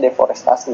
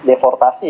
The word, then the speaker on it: deforestasi: baca deforestasi tinggi cowoknya tulisannya deforestasi bacanya deforestasi bukan reports deportasi ya tadi kok enggak